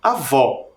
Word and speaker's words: avó: também terminam com o porém o som mais forte em vó é lá no final na última sílaba tônica Então ela é oxítona